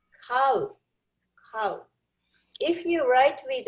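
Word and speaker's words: 飼う: To have a pet, we pronounce cow. Cow. はい、言ってください。cow. Cow. Like an English animal. Cow.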